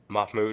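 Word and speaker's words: Mahmoud: was legally here uh it's pronounced mahm Mahmud yeah where am I getting KH I I think his whole name is khil Mahmud but I'll just go Mahmud yeah so he was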